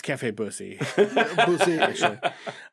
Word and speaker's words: Bussy: Does this say Cafe Bussin'? No. That's a good espresso. Yeah. It's Cafe Bussy. Bussy. Actually. It's actually French. It's pronounced Bussy.